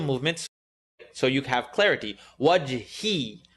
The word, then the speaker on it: وجهي: Wajhi. I want to hear the E. إلا ابتغاء وجهي, wajh. Listen to it incorrectly. Wajhi, wajh, wajhi ربه الأعلى, ربه الأعلى, أعلى.